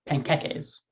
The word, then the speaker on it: panqueques: No, I didn't say pancakes. It's pronounced panqueques.